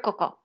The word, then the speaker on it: Coco: And she's like, oh, you're Coco. And I'm like, oh, okay. So like Coco Chanel. That's what I always tell people. Like that's how you say my name.